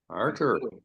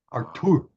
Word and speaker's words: Artur: Arthur. It is Arthur, but not pronounced that way. Artur.